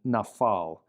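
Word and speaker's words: נפל: the same, but it lacks the dagesh and therefore has an F pronunciation, nafal.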